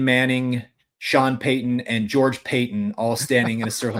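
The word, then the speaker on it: Paton: Shawn Payeyton, and George Payton all standing in a circle together. So, try, you know, try getting that all all pronounced Payton, all spelled differently, all kind of key figures in Denver.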